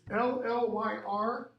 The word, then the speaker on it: Llyr: clear half speech this this llyr the ll together is pronounced like hl this is the leader as in shakespeare's king lear okay same mythological character um